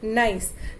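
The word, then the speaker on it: gneiss: the next one is nice although the spelling is g n e i double s but we spell it as we pronounce it as nice this is actually formed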